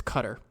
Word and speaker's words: Cutter: I think I said Cutler. It's Cutter.